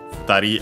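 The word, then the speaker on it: 二人: And so it becomes hitori, futari, hitori accent on the to, futari accent on the ri itself.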